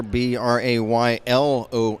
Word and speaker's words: Braylon: clears the puck away that's Braylon Snyder b-r-a-y-l-o-n not Braden but Braylon here's a blast by